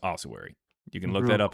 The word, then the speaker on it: ossuary: And also it's pronounced ossuary.